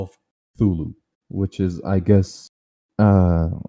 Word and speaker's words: Cthulhu: as to pronounce it cthulhu because uh it's actually a sound made by like this being this monster and oh really that's